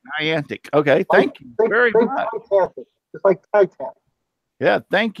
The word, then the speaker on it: Niantic: $10 I've seen that Niantic I call it anionic Riverwood crafting huh I forgot to how do I say it ninety-nine antique that's what I thought it was you're right I'll tell you you're saying it right Niantic okay thank you yeah thank you I appreciate